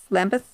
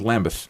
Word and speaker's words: Lambeth: as you can tell lamb lambus lambus l a m b t h oh let's go with lambath lambus I I can hear the Brits saying it like that lamb they're probably correcting me as I speak we shall spend a